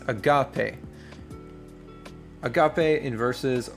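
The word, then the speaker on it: ἀγάπη: This little mark right here is your stress mark, which syllable gets the stress. So, it's not agape, it's not agape, it's agape.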